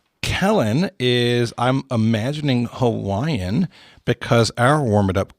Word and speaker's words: Hawaii: And Kellen did take time to stress that the little apostrophe thing like we see in Hawaii is called an okina, and it is a guttural stop. Oh. Meaning if you see it, it means whatever sound you're pronouncing is supposed to stop and then finish with whatever the next vowel sound is. Cool. And so in this case, Hawaii is Hawaii, not Hawaii.